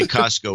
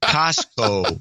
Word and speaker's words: Costco: When she said, "Yay, Costco," Costco without the T. Oh, no. I had an old crap moment. I realized I've been dropping the T from Costco for years. I quickly corrected her and now pronounce it Costco.